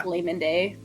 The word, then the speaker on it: McLamnidae: McLamnidae. It's yeah, just like layman. It's like Yeah. McLayman Day.